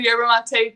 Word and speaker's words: yerba mate: clean cause uh it is you got the pronunciation right it's a yerba mate tea um we are a energy drink but